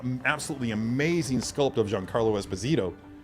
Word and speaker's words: Esposito: Because in Spanish, if I'm not mistaken, the second to last syllable of a surname is typically the one with the inflection, so it would be Esposito.